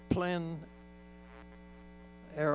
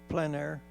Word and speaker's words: plein air: Would you define the plein air art, plein air? Oh yeah, plein air painting, and it's spelled P-L-E-I-N.